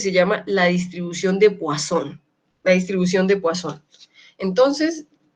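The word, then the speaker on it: Poisson: paso distribución de sol esto se escribe poison y se dice wason visto porque es francés muy bien entonces para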